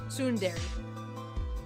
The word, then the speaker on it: tsundere: Okay, so I'm pronouncing the beginning of it wrong. Tsundere.